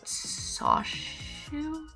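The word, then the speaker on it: Suchet: I loved the audiobook with David Soshu. His pronunciation of his last name is something close to sushi.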